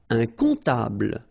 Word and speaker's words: comptable: Un comptable, so OM, remember it goes like on, all right? And then, strangely, this P is not pronounced.